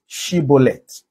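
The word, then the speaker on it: shibboleth: them to pronounce a word they call it shibolet but the benjamite cannot pronounce shibolet they are like the the Y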